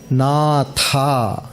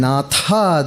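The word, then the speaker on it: नाथ: Natha. Sai Natha. Natha is Lord. Nada. Sound. Nata. Bad smell. So pronunciation very important. So between Nata and Natha there is a difference.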